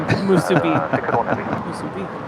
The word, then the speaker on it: musubi: you say it i got the correct pronounced pronunciation of musubi all right we just had the klm